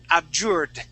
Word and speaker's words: abjured: okay give me a give me a D sound ABJ abur that's it abjured absur okay all right